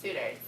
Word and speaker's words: sutures: It's pronounced suitors. At least that's what I heard.